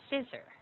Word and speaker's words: scissor: And this is an S sound. Okay. S, not Z. Okay. Yes. Okay. So scissor scissor scissor scissor scissor.